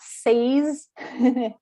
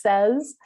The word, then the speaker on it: says: it's has and does another one that changes pronunciation is say and says so it's not says it's says which is just slightly different uh can be a little tricky now the spelling of